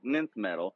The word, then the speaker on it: Nth metal: has the his um nth nth metal it's spelled with a nine it's weird but it's called nyth metal and it's like the